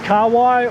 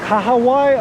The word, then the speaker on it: kahawai: swim between the lines anyway so the first kawaii or kahawai i believe is the correct pronunciation but i grew up different just learned